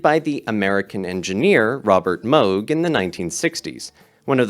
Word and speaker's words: Moog: Yes, Moog is pronounced Moog.